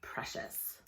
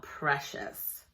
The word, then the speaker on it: precious: we're gonna look at today is the word precious precious it doesn't really follow a lot of